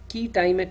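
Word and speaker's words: quia timet: and exporting junctions there is something called a key time at injunction it's spelled as q-u-i-a space t-i-m-e-t a key time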